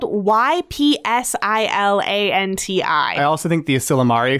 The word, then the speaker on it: Ypsilanti: Tom Monahan and his brother James bought an Ypsilanti, Michigan pizza joint called Dominic's. I'm so impressed by your pronunciation of Ypsilanti.